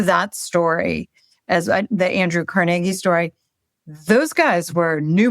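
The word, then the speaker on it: Carnegie: and the Rockefellers in CargI. Full disclosure, I went to CargI Melon and they teach you how to pronounce it that way.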